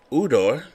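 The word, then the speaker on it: Ujdur: Udor, Jay is silent, on the mound.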